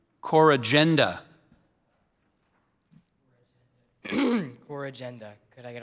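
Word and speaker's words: corrigenda: There's one. So I gave you the the initial one, core agenda. There's also car agenda.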